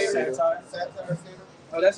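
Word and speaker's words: satyr: And the sitar How you say it? Satire.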